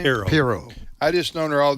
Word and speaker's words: Pirro: to what Judge Janine, again, how do you pronounce her last name? Pirro.